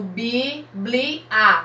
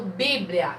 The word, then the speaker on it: bíblia: que está junto brilham eu não tô falando biblía não eu falo bíblia então bíblia quantas sílabas eu